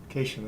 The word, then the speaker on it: Cation: had fun with my, Cation, that's how I pronounce that, right? That is correct.